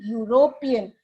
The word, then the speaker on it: European: what is the rule even if the letter is a vowel but the vowel sound is absent then we cannot use an we have to use a a European a one rupee note okay so one I